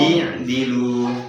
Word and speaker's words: اعْدِلُوا: Untuk yang nggak ngerti sorfi untuk menentukan huruf yang begini ya biasanya mengikuti harokat huruf ketiga. i'dilu, jadi hamzah wasalnya mengikuti huruf yang ketiga dal.